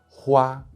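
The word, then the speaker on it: 花: Hua, which means flower.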